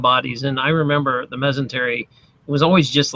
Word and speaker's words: mesentery: So, but you know, it made me think of the masonry gland. That discovery, am I saying it right? The masonry gland? Mesentery. Mesentery.